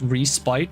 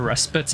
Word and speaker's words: respite: You go out with respite, always call it respite as in spiteful, but some prefer respite as in spitting. Both are accepted pronunciations apparently.